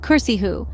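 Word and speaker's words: كرسيه: For example, the word his throne in Arabic is kursihu, where the C sound is actually a sin. If one pronounces it with a sad, it could become a different word altogether.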